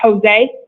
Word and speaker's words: Jose: I apologize for mispronouncing it. It's pronounced Jose.